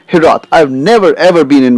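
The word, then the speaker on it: hiraeth: The pronunciation of this word has got different origins, but I'm going to just focus on hirath.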